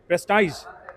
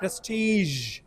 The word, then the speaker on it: prestige: ইউ did very well আরেকটা কি ছিল প্রেস্টিজ উচ্চারণ হবে প্রেস্টিজ right and last one